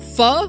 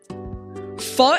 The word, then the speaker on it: pho: Instead of going straight to Guildhouse, I went to get pho with Joabunga.